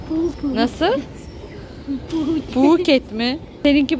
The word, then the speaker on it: Phuket: Hayır, o şöyle okunuyor. Phuket.